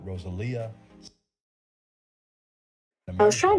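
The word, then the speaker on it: Rosalía: Oh, is that how you say her name? Rosalia? I mean, yeah, that's like the Spanish way to say it. I never heard anyone actually say it that way.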